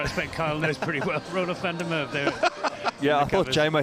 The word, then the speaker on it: Roelof van der Merwe: another cricketer I expect Kyle knows pretty well, Roelof van der Merwe there. Yeah, I thought Jamo hesitated there because he couldn't get the pronunciation out. What is it again? Roelof van der Merwe.